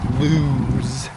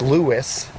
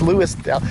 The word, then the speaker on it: Lewes: That's spelled L-E-W-E-S. And no, it's not lose, as out-of-towners say. It's Lewis, like fun for Lewis. They could call it Louis, Delaware, right? Anyway, it's Lewes, Lewes, Delaware is the proper pronunciation.